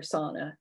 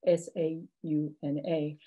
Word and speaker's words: sauna: just changes over time another example of a local pronunciation is the word sound or the pronunciation sauna for sauna s-a-u-n-a and this is a really good example again of language contact between english and finnish no doubt other european languages where people would say sauna instead of sauna the pronunciation is uh